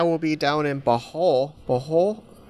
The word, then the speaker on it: Bohol: Bohol. They say you got to end with a H in Tagalog.